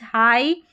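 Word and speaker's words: high: जी H silent रहेगा, ठीक है, यहाँ पर जी एच का उच्चारण नहीं होगा। जैसे यहाँ पर देखें जी एच के बाद में टी है, ठीक है, जी एच है और जी एच के बाद में टी भी नज़र आ रहा है, तो यहाँ पर जी एच का उच्चारण नहीं होगा। लाइट, नाइट, हाई और यहाँ पर है राइट, इस तरीके से पढ़ना है।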